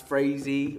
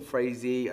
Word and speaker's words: Phrasee: just for the record it's pretty much pronounced to everyone we're not very precious about that it's Frazee or Frazee that sounds the same to me but so I'm going